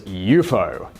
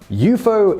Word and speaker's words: UFO: watching well okay then how you pronounce it is eupo eupo is how the person who popularized and is sometimes credited as coining unidentified flying object instructed people to say the acronym version of the words now remember that promise